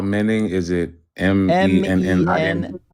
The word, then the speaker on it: Menon: Spell it. Murli, Murli Menon. Spell Menon. Is it Mennon? Menon.